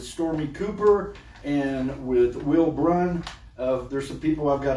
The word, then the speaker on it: Braun: Will Braun, that's a Will Braun? Braun. It's spelled weird, but hey.